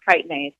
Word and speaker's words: chitinase: spelled with a ch like chitinase but it's pronounced chitinase for those who have not really seen that in writing anywhere and it is this does this enzyme chitinase happens to dissolve the exoskeletons of soft-bodied insects